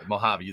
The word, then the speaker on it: Mojave: Because even though it's the United States, Mojave, so the J sounds like an H.